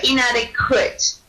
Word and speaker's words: inadequate: trouble with in so inadequate so just make sure you pronounce the T more so inadequate uh I